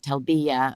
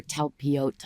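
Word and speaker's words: Talpiot: And the day that we went to his house, which is in a neighborhood called Telbiya, or Telpiot, I think is how you say it in Hebrew.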